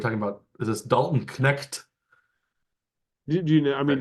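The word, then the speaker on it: Knecht: not yes well fortunately Dalton pronounces it the old German Way the K yes not the silent k apparently uh let's say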